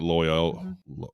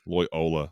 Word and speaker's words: Loyola: is on a college campus it's in like loyal I cannot ever pronounce this college loyal Loyola Loyola sorry it's in Louisiana so it's like a